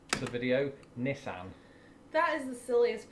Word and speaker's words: Nissan: Aha, again, not a sponsor Nissan. video, Nissan. That is the silliest pronunciation. No, it isn't. Look, it begins with N-I-S-S, Nissan. which, It's a that's Nissan.